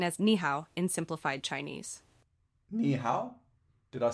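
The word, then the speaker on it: 你好: to say hello in Chinese you can say niow which is written as niow in simplified Chinese niow did I say it correctly yes Sean you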